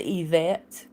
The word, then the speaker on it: Yvette: My middle name is Yvette. And it's spelled Yvette. So it's French. So the Y sounds like an E.